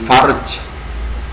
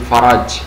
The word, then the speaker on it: faraj: dekat gitu ya ya Ini bacanya jangan Farj ya tapi faraj faraj itu jalan jalan keluar kalau farjun ini Kema kemaluan ya jadi jangan salah baca kemudian yang berikutnya adalah